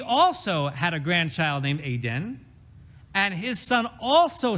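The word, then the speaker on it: עדן: But Ayin Daled Nun is pronounced Aden.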